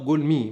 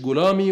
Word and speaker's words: גלמי: الكلمة العبرية تنطق جولمي، مش جولامي ولا جلماي زي ما بيقول، لكن طبيعي هو ما يعرفش لغات كتابه الأصلية مثل غالبية المسيحيين، ومع ذلك بيفتي وبيكذب.